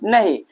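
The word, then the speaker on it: know: नहीं देखिए क्या हम इसे कनो पढ़ रहे हैं क्या कनो नहीं हम के को क्या कर रहे हैं साइलेंट कर रहे हैं और इसे हम क्या पढ़ रहे हैं नो पढ़ रहे हैं वाल वाक पढ़ रहे है क्या?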